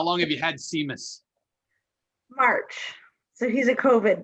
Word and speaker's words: Seamus: warm yourself up um what's the dog's name sheamus sheamus is that spelled like seamus yes how long have you had siemus march so he's a covid dog oh you